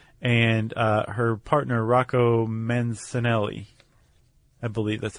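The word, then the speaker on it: Mancinelli: A um well, yeah, a microbiologist named Lynn Rothschild and uh her partner Roco Mensanelli, I believe that's how you pronounce that. Menanelli.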